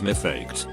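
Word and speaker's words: מפקד: Now what Americans call drill instructors or drill sergeants in Hebrew is mifaked, which is pronounced very similarly to my duckhead.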